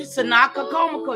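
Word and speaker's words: Tsenacommacah: See, TSENACOMOCO. You trying to pronounce the S, I know, but the S and the T go together. You get it?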